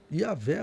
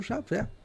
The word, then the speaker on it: Javé: hebraico em aramaico também ele iria pronunciar esse nome como tá lá no Versículo porque no Versículo do salmo 16 Versículo 8 está o nome de Deus yavé ou Javé essas seriam as pronúncias